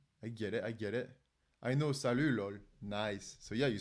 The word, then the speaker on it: salut: I know, salut, lol. Nice. So yeah, you speak French. Salut. But you're not one of those people that pronounces the T, no?